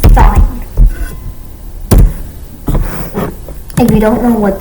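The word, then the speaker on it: sine: It's spelled s, but it's pronounced sign of sign.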